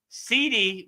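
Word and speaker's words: siddhi: It's not spelled like a actual CD. It's spelled S I D. S I D HI, right? CD. So, it sounds like CD, but it's really CD. So sidi means perfection.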